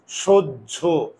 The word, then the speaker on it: সহ্য: কারণ কি আমার মুখের চোয়াল খুলে না স্য সহ্য মুখের চোয়াল যদি না খুলে তাহলে উকার আমার কথা কি বুঝতে পারছো?